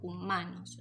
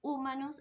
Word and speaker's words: humanos: En este caso, en el caso de la palabra humanos, la sílaba que suena más fuerte cuando yo pronuncio la palabra es ma, porque yo digo humanos, no digo ni humanos ni digo humanos, ¿sí?